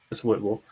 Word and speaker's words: Whitwell: It's spelled Whitwell, but it's Whitwell.